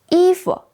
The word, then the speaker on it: 衣服: 衣服. First, E is a fourth tone. Second, F is neutral.